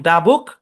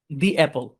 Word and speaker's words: the: এই জায়গাটা হুবহু লিখবেন এবং ভয়েস দিবেন যে শব্দের শুরুতে ভাওয়াল থাকলে তার আগে THE এর উচ্চারণ দি হবে, যেমন দা বুক, দি অ্যাপল, এটা বলবেন।